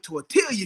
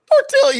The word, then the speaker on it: tortilla: tail dip with tortilla chips. Tortilla, you said the L.